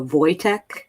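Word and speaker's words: Wojtek: i used to know uh voytek is it's w o y uh j t e k boy tech and i was like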